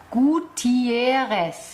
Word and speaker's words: Gutiérrez: g g I e r r e s gutieres genau wie spricht man das aus auf Spanisch ja und hätten